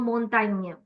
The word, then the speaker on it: montagne: Whenever you see your words ending in GNE, campagne, champagne, montagne, make sure that your GNEs are pronounced as near.